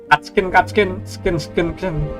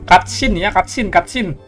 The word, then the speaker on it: cutscene: Skin bang, bukan skin. Sin ya, ini bukan skin. Sin. Oh, dibacanya sin. Iya, dibacanya sin, cuy, bukan skin. Cutscene, guys.